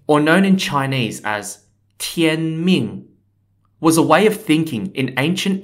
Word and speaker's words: 天命: Mandate of Heaven or known in Chinese as Tien Ming was a way of thinking in ancient and